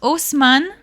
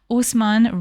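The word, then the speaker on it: Haussmann: it's an impressive City uh Osman it has a silent h in the beginning um this man Usman re-designed all of Paris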